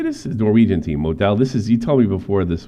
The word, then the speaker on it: Molde: Norwegian team, Modell. You told me before this was Haaland's first team that he came up with, correct? How do you say that name? Molde, I think. Molde, yeah.